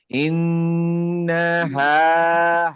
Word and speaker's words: إنها: হায়ের উচ্চারণটা ভিতর থেকে। ইন্নাহা হা হা ভিতর থেকে।